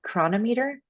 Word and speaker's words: Cronometer: There's one in particular called Chronometer, and that's not spelled with a CH, it's spelled with a CR.